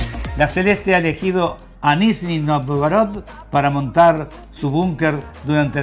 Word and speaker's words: Nizhny Novgorod: de Rusia, a orillas del río Volga, encontramos Nizhny Novgorod. ¿Se pronuncia así? Más o menos. Me estoy equivocando, ¿no? Un poquitito. Enseñame más que nada en el acento uruguayo que se nota. Nizhny Novgorod.